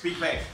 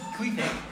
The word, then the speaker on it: Queequeg: Queequeg. It's a bull terrier. It's a bull terrier, and he killed Moby Dick. Yeah. And how do you say his name, Aslam? Queequeg.